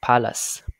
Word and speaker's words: palace: Rồi, rồi từ cái tiếp chúng ta không phải là place, nó là pa. Âm e được nhấn thì chúng ta sẽ đọc là e bằng miệng nè, bằng miệng ra ha, pa. Phụ âm l mới xuống, e không được nhấn chuyển về ơ, ce luôn chuyển thành s ha.